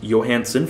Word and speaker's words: Johansen: I just remembered was Albert Johansen properly announced pronounced Johansson for some